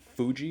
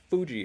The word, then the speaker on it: Fuji: So Mount Fuji is not Fuji, it's Fuji.